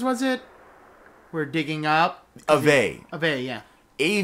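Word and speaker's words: Aveh: it we're digging up Ave yeah a v e h so the H is silent or it I guess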